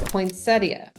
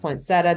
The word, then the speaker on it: Poinsettia: other points of interest is Poinsettia, or Poinsettia, depending on where you're from and how you pronounce it.